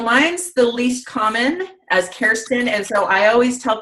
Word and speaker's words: Kerstin: And how can people remember to pronounce your name as Kerstin and not Kerstin? Yeah, so mine's the least common as Kerstin.